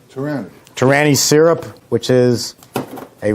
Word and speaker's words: Torani: Jeff suggested some Torani. Is that how you pronounce it? Torani? Torani.